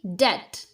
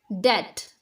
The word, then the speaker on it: debt: In this word, B is completely silent. This should be debt, debt, without B, debt.